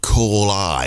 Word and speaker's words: Callai: These guys are called Call I. It's spelled Callai.